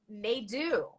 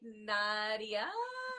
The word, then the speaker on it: Nadeau: totally wrong y yeah okay how do we pronounce it correct me n n do na do okay yeah I've never heard n n you